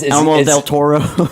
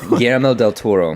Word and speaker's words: Guillermo del Toro: How do you pronounce it? Guillermo El Toro. Elmo del Toro. Guillermo del Toro.